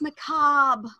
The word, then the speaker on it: macabre: That was the word that I discovered Google exists with a pronunciation guide. And I went, oh, it's macabre.